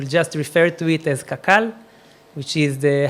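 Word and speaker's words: קקל: so I will just refer to it as kakal which is the how we pronounce it the the acronyms we pronounce in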